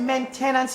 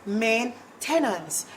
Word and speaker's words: maintenance: their maintenance is wrong people get maintenance wrong but it really is main tenants it really is that